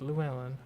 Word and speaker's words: Llewellyn: That's how you pronounce that, Llewellyn.